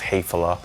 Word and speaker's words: Häfele: stuff is already built already exists it's called heyphala h-a-f-e-l-e as you notice from the title it's pronounced hatefula it's a German manufacturer of all kinds of